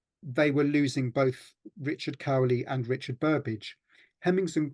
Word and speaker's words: Cowley: But in fact, Burbage died within days of another senior actor named Richard Cowley, sometimes pronounced Cooley.